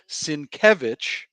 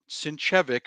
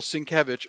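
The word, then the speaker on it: Sienkiewicz: jesse hit it boom let me say it right i'm gonna say it right this is batman tm unmask the truth are print by bill cinkevich not sinchevic that's my friend bill cinkevich side.show forward slash bat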